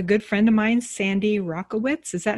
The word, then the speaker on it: Rakowitz: friend of mine sandy rockowitz is that how you say it sandy rocco wits i want to make sure uh like the tennis racket rackowitz rackowitz thank you thank you